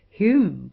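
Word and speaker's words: Home: in square brackets David Hume and John Hume, spelt H-O-M-E, whose names had the same pronunciation, Robertson, Smith, Wallace, Blair, Ferguson, Wilkie, etc.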